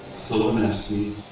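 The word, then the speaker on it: Silvanesti: So, So you have Sorry, a couple, 20 yeah, a couple of points on pronunciation. It's Salamia, Huma, Sylvanesti, and Polonesti.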